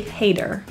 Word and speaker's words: hater: the tea here is pronounced as a flat T sounds like a quick D hater hella meaning very or